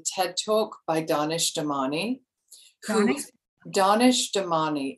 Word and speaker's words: Danish: Danish Damani. It's spelled as we might say Danish.